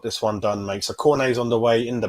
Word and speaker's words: Cornet: Only one Cornetto, but you do have to pronounce it as Cornet. It's a silent T, but we'll just say one Cornetto.